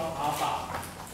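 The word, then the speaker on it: α: 这个念成阿尔法，来念一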